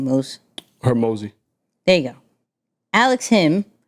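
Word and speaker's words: Hormozi: Hermosi.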